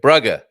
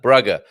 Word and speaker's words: Braga: that's number 17 brg Brer I think I think I put too a long a vowel on that bragger might be the best better way of saying it the correct way of